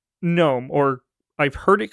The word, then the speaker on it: GNOME: defaults with is called GNOME, or I've heard it called GNOME. I know it should just be GNOME, because that's the G is silent in this word, but I also find it funny to just call it GNOME.